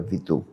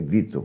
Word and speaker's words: Vittor: Naquele tempo se pronunciava Víor. Hoje ficou mais chique. É Vittor, né?